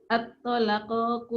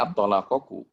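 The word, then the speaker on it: الطَّلَاقُ: At-talaqu marratan. Aku atolaku. Aku sih. At-tolaku. Tadi apa bacanya, Pak? Tadi Ibu bacanya at-tolakoku.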